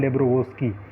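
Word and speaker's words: Доброво́льский: डेब्रोवोल्स्की, एल चूँकि silent रहता है, वोस्की है वैसे, मिखाइल डेब्रोवोस्की।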